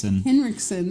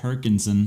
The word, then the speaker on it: Henriksen: say it right no what is it Henri henrion henriksson you said Hinson I forgot I missed the n in there that's how we got the